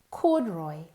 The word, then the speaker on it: corduroy: Corduroy. Corduroy. You spell it C-O-R-D.